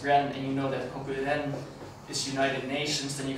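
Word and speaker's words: 国連: koku and connect the character for connection is pronounced ren, and you know that koku ren is United Nations, then you can also get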